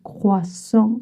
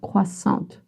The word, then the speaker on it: croissant: Just remember that you don't pronounce the T. Even if you have some trouble with the creux, it's croissant, not croissant. Un croissant.